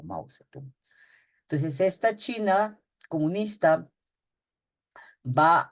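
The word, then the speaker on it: Mao Zedong: Ustedes muchas veces pronuncian tal como leen Mausedón, ¿no? Pero en realidad se conoce como Mausetú.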